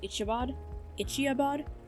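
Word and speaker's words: Iditarod: She wants to train for the, I believe it is pronounced Ichiabod, which is that huge race that, takes place in Alaska every year.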